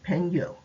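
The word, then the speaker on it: 朋友: is a translation of a chinese term pronounced pengo strictly speaking it is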